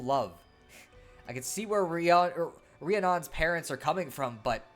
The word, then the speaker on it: Rhiannon: It's pronounced Rhiannon.